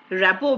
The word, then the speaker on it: rapport: what is connecting with another human being called rapo building our AP p ort that's the English pronunciation rapper if you join an American firm